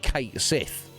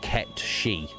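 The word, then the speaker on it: Cait Sith: and stuff like um like Kate Sith from uh Final Fantasy it's probably absolutely not the correct pronunciation it's apparently pronounced ketchy um all right really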